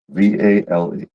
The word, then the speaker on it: Vale: No, VALE. Vale, I guess you can pronounce it that way. Yep. Pronounce it as Vale.